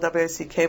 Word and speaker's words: Wack: The last name is spelled W-A-C-K, but it's a German pronunciation apparently, so it's Bishop Wack.